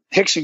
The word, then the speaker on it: Rickson: And then one of my martial arts teachers, the great Hickson Gracie, it's spelled like Rickson Gracie.